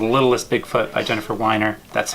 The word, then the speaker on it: Weiner: chose is the littlest Big Foot by Jennifer whiner that's how you pronounce it and a frequently asked questions on